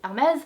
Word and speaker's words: Hermès: But Hermès is a French brand and in French it is pronounced Hermès.